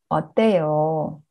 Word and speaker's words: 어때요: And 어떻다, to be how, and then this is in vowel, right? So we put 어요, so 어떠요. We predict 어떻다 plus 어요 as 어떠어요, right? But it's not correct. So we say 어때요, 어때요.